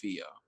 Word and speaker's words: Pheo: so what you hear I heard but the characters your mom say my name but no it turns out the character's name is Pheo I was like do